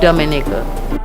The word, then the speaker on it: Dominica: nature you know you could get everything from Dominica we are Dominica live yeah we love Dominica I hope you love it as well thank you we call it Dominica we call it Dominica it's called Dominica call